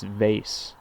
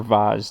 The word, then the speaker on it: vase: then up and form a nice vase or vaz depending on how you pronounce it branches that grow up